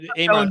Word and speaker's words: Amon: Amon.